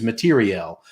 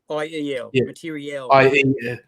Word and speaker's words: materiel: People and everything the army has that's not people is materiel, not IAL. It's I forget how you spell it, but it's like IEL, materiel.